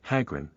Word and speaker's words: Chagrin: name is harjim and the true gypsy word is pronounced very nearly like hagrin the O being an arbitrary Edition the transposition of letters